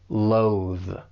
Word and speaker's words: loathe: For pronunciation, it's just the one syllable, but make sure you're using that voice TH at the end. Loathe.